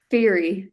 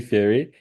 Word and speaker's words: Feighery: by how do you say your surname Fury yeah it's really diff difficult to pronounce even IR people can't pronounce it I thought it was safer to ask you it's Fury and uh has a YouTube channel it's